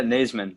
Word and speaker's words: Naseman: Do you say Naseman? Yeah, Naseman. Yeah, thank you.